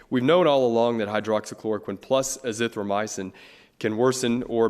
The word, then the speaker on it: hydroxychloroquine: You may have to help me with this, the pronunciation of this drug, but have doctors at your hospital prescribed the Oxford chloroquine. Hydroxychloroquine.